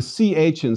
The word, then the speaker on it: chi: It's equivalent to the CH in Scottish loch or German doch. If you can't make this sound, no worries. A simple K sound will suffice.